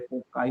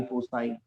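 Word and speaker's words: foci: आप फोसाई भी कहते हैं, कुछ लोग अलग अलग प्रोनाउंस करते हैं. फोकाई, फोसाई. Major axis, minor axis.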